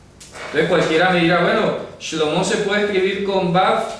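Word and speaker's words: שלמה: Ejemplo, el nombre de Salomón se escribe sin ninguna Vav y se pronuncia Shlomo.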